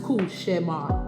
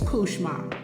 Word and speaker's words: Couchemar: It is a French word and it's pronounced Kushma, which means nightmare. But by the time it get to black vernacular, it's Kushma.